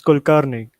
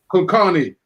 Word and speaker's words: Kulkarni: Viraj Kulkarni. If I pronounce that right? It's Kulkarni. Kulkarni. Dr.